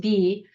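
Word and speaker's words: 비: And this movement is called 4B movement, because South Korean word no is pronounced B.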